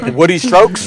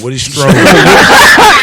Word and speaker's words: Woody Strode: You said Woody Strokes? Woody Strode. Yes. Yes.